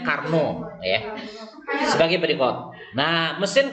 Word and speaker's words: Carnot: Konon bacanya Carnot ya.